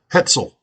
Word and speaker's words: Hetzel: Brenda Castleberry, Christine Jeffords, Hetzel, rhymes with pretzel.